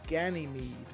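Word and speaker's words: Ganymed: from the late 70s called operation ganime even though it's spelled as Ganny Med because I guess in German they don't put the E on the end uh a movie that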